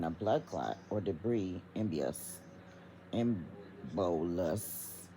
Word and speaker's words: embolus: So, an embiotic stroke occurs when a blood clot or debris, embolus, that's how they're trying to say that you're supposed to pronounce it, travels from one part